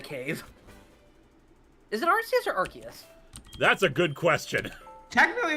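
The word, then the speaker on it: Arceus: real sling and now now it's archus which is actually the more emically correct way to pronounce it Aras okay Aras AR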